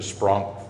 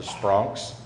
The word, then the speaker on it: Spronk: And a special welcome to the Spronks and the Spronk family.